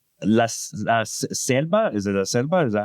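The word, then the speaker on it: La Ceiba: La Selba. Is it Laselba? Is that how you say it? Laaba.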